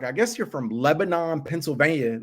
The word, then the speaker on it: Lebanon: mean it as being from there so it's pronounced Lebanon um leban which is yeah Lebanon there you